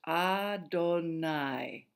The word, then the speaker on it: Adonai: So, every time the ancient Jews came across the name Yahweh, they always said the word Adonai instead. That word is pronounced Adonai.